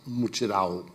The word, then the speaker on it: mutirão: Brazilians know very well, which is called the mutirão, now pronounced mutirão.